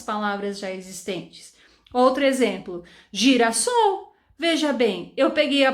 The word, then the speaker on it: girassol: com s e quando ele tá entre duas vogais em fica com som de z ia ficar ali girassol girassol ninguém fazer o sol né coitada da flor então para evitar que as pessoas pronunciassem girassol foi colocado um s e mais aqui e ficou então girassol então gente espero que